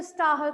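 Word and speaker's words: Stahl: ठीक है, कहीं कहीं आप लोगों को सिर्फ स्टाल दिखाई देगा, ह शब्द नहीं दिखाई देगा, एच साइलेंट रहता है। ठीक है, तो लेकिन जब हम इसको बोलते हैं तो स्टाहल पे बोलते हैं।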